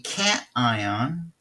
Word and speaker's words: cation: if you remember but a cat ion is like like this guy's cat that is a positively